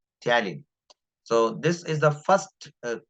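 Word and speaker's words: ptyalin: aware about it uh talin talin is a word used for salivary Ames p is silent here talin so this is the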